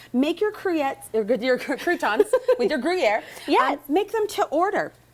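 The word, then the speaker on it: Gruyère: how do you say Gruyere? Gruyere. Gruyere. You have to say it with your lips. Gruyere.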